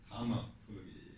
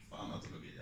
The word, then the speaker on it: tanatologi: Jag måste komma ihåg uttalet på tanatologi, inte fanatologi alltså. Man har struntat i F-et från grekiskan.